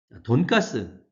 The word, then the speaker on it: 돈가스: 돈가스는 일본어 돈가스에서 온 말입니다. 돈은 역시 돈, 돼지 돈입니다. 근데 가스는 커틀릿의 일본식 축약 발음입니다. 돈가스가 포크 커틀릿이거든요. 이 포크는 돼지고기라는 뜻이고 커틀릿은 두툼한 고기 토막이라는 뜻입니다. 돼지고기를 두툼하게 해서 밀가루 입히고 또 다른 걸 해서 튀겨낸 음식이죠. 기름에 튀긴 음식입니다. 그러니까 포크 커틀릿인데 이 커틀릿을 가스로 축약해서 일본에서 발음했습니다.